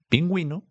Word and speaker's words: pingüino: Siempre que ves eh esta u con estos dos puntos, sabes que tienes que pronunciarla. Entonces, cuando ves escrito pingüino, cuando es escrita la palabra bilingüe, sabes que se pronuncia así.